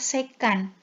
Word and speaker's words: sekan: Nah, 3 yang lainnya yang perlu kalian ketahui juga adalah sekan. SEC itu bacanya sekan.